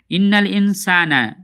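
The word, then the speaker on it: إِنَّ الْإِنسَانَ: ইন্নাল ইনসানা লিরব্বিহি লাকানুদ ইন্নাল ইনসানা সিনে এক আলিফ টান হবে নুনে টান হবে না ইন্না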